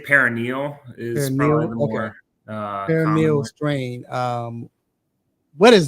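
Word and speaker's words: peroneal: out with a peronal am I saying it correctly peronal Str some say most more say paranal is strain um what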